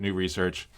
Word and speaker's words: Nous Research: I, I, the way I pronounce it is new research. I mean, so this was somebody in that team and he wasn't even really sure how to pronounce it. but he said, I pronounce it new research and Hermes is Hermes.